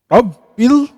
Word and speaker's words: rabbil: lillah panjang dua harakat RAB ada tasdid sini jadi harus dibacanya RAB ada magnet ya rabbil sama Alif Lam qamariah harus jelas rbil rbil enggak boleh rbil Enggak boleh rbil Enggak boleh tapi rabbil alamin Ain panjang Karena ada